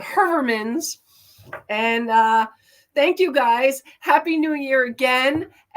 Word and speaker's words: Heuermann: say it right because it's not how I said it growing up. Heuermann's, and we always knew it at Herman's, but Heuermann's.